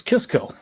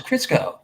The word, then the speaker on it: Crisco: oil crisco really yeah i thought it was kisco no it's crisco go ahead what the